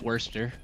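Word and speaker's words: Worcester: It's worester. Worester worister. I don't know what worst worst chester.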